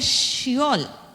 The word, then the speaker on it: Seol: capítulo 37 versículo 35 el término Seol él viene del hebreo y ente que se pronuncia shol esol aquí tiene una